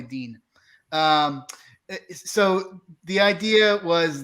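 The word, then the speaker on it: Digne: no exchange between lucas denny and no dean dean dean i've got to be uh i've got a i know french pronunciations it's definitely dean um so the idea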